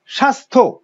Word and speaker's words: স্বাস্থ্য: এই যে স্বাস্থ্য, এখানে জফলার কোনো উচ্চারণ নেই।